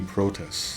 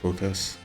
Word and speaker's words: Protest: So, this is the protest spell like um like pro and then test. It's not the word protect, but it's supposed to sound like it. So, protest, and it's um like a defensive spell that you learn.